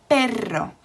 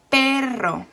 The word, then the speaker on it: perro: syllable so for example you have the word perro so two syllables and the stress is on the first syllable for example have is